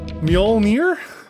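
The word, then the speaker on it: Mjölnir: mjolnir umir my myelnir mjolnir yes the J makes a y sound okay that's what I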